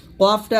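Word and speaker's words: ق: কু এরকম লিখতে পারেন কিন্তু কফ কফ কিন্তু কাফের মত না কফটা পাল্টা আওয়াজ দিয়ে মোটা গোচ্ছ করবেন কফ জবর কফ কফ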